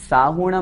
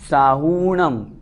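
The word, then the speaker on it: साहूणं: नमो लोए सव साहूणम, साहूणम में भी हु बड़ा है, इस बात का भी हमें ध्यान रखना है। साहूणम नहीं बोलना, साहूणम इस तरह से उच्चारण करना है।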